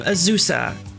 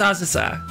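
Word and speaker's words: Azusa: everyone pronounce it as USA and it it's just it's Spain now I may be totally off Bas here I may be entirely wrong they but that's not how you pronounce Japanese names ausa isn't ausa no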